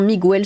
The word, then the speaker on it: Miguel: Lilith, en tant qu'ancien étudiant en espagnol, je me dois te signaler que le nom Miguel se prononce Miguel et pas pardon, Miguel.